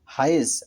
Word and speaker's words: হায়েজ: মাসে কি প্রত্যেক মাসে মহিলাদের যেটি মাসিক হয় সেটা হচ্ছে হায়েজ। আর যদি আপনি সেটি সোয়াদের পর যদি দাল ধরেন তাহলে হবে হায়েদ।